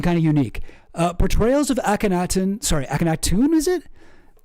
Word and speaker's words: Akhenaten: But I want to show this about sorry, somebody told me how to pronounce it. Who said that? Gibbly bab chow. Oh jeez. Akhenaten.